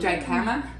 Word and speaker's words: jicama: It's spelled jicama. It's with a J, but it's jicama, and it's like a celery root.